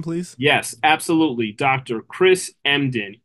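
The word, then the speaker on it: Emdin: one more time please yes absolutely Dr Chris mden e m d i n do you know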